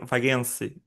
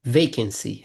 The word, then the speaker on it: vacancy: Vagancy is correctly pronounced? It's a strange word, but it's vacancy.